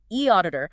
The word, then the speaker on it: eAuditor: Remember the pronunciation, e auditor, offer a remarkably efficient, effective way to actually do it.